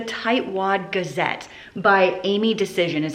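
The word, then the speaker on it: Dacyczyn: The tight wad Gazette by Amy Decision is how you pronounce her name.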